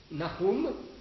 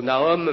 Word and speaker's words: Nahum: Donc, vous avez Nahum, si on prononce à la manière hébraïque. Alors, en français, on disait autrefois plutôt Nahum.